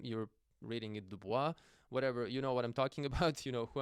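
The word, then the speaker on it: Du Bois: Most people pronounce his name as Duboce. Uh it's Dubois.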